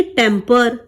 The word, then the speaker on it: tamper: देखिए, अपना आपा मत खो, हमने स्पेलिंग सीखी थी छेड़छाड़ के लिए टेम्पर, लेकिन गुस्से के लिए हम कहते हैं टेम्पर। ठीक है, दोनों का प्रोनाउंसिएशन बिल्कुल सेम है, लेकिन यहाँ पर ए